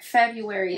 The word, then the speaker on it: February: February. It's February, but it's spelled February.